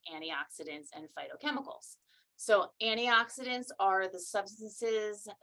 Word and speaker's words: phytochemicals: these things and then phytochemicals even though it's spelled with a pH I like to say fight like f-i-g-h-t are those natural chemicals